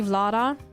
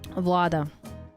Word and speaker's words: Vlada: In in Germany, people call me Vlada. Vlada. English, I don't know, probably the same. However, if you pronounce my name in Russian, you say vada.